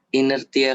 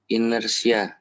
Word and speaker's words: Inersia: Inertia kayak gitu aja, sir. Inertia. Oke, T-nya Ya. diganti S. Coba gimana? Inersia. Nah, gitu cara bacanya.